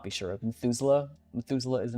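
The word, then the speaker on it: Methuselah: Even though I think that Methusela is kind of spelled spelled like the way that you would sound it out.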